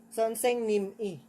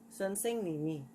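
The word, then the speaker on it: 선생님이: Pero mali ang pagbigkas ng Son Seng-nim-i. Mali po yon. Dapat makakatch po yung sounds doon. So yan ay magiging Son Seng-nim-i.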